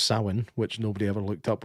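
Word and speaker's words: Samhain: Like it it's just it brings back Sam Hayne from uh Halloween 3. Yeah. Remember the that the festival Sam Hayne? Well, it's pronounced Sin, which nobody ever looked up when they were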